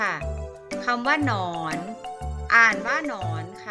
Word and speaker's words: หนอน: อ่าน ว่า หนอน ค่ะ ตัว นำ คือ หอย อีก นะ คะ ส่วน ตัว ตาม ก็ คือ นอน งู อ่าน นอน หนู หนู นะ คะ จะ อ่าน ออก เสียง หอ หีบ นำ นะ คะ อ่าน ว่า หนอน ค่ะ อ่ะ ดู ตัว อย่าง